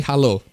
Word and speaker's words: halo: It's simply halo. It's hello. It's just halo. as in the Halo game, but it's pronounced Halo. So my PC side panel